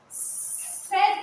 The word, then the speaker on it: said: Did you hear the A sound in the word? It isn't there. Said is a tricky word. You spell it. You don't. You don't sound like it, is it? It is. So you learn it with the spelling.